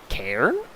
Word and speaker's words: cairn: There's a, from Eddie J, it is an Irish word, so it's an A sound. So, cairn? Cairn?